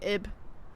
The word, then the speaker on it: Ib: I know it's pronounced other ways, but I call it Ebe. So. I've seen people say Ib. Ibe. But I say Ebe.